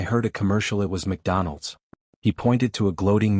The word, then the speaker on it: McDonald's: support but found none it's McDonald's you fried battery not MacDonald's Mina laughed n no